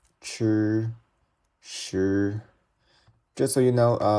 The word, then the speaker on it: chi: Chi is how you say. You can think of the word like China. So this is chi, shi, like shut down, shi, zhi, chi, shi.